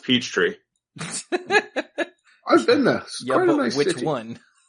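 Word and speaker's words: Peachtree: in Atlanta Georgia yes you have to say it that way Jah it's pronounced Peach Tree I've been there which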